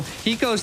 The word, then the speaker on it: Hiko: You know, Hiko's name's almost like Aiko, but spelled with an H, and I love it.